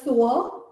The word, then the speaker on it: sewer: The first S-E-W-E-R is sower, to sow. And the second S-E-W-E-R is the drain, sewer.